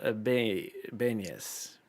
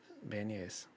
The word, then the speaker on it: beignets: Michael Rogers said it's pronounced like mayonnaise. Which is what's pronounced like mayonnaise? Beignets? Beignets.